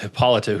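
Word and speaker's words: Hippolyta: I was going to say hippolita.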